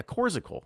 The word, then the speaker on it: Coors Icicle: Yeah, Corsicle. I was saying it wrong. It's Coors hyphen ICLE. So Corsicle.